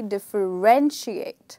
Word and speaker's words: differentiate: Many of us call it as differentiate or differentiate, but the word is actually differentiate, okay? So the stress is on ren, okay?